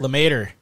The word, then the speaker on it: LeMaitre: say his name again lemaitre the mater like tater tot yeah it's that's what